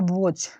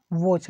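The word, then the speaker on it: watch: इसका होता है वॉच। इसका प्रोनाउंसिएशन वॉच।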